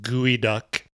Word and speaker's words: geoduck: Uh it's pron it's spelled geod duck but no it's pronounced gooey duck perhaps Indian uh pronounc pronunciation of that.